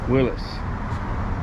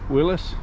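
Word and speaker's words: Willys: win the argument about whether it is called a Willis or a Willies people call them Willies because it's spelled w i l l y s so what is the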